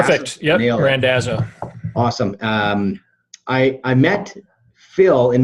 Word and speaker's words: Randazzo: Is it Randazzo? Perfect. Yep, Randazzo.